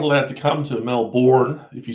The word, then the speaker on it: Melbourne: Well, you're not allowed to come to Melbourne if you say it like that, dude.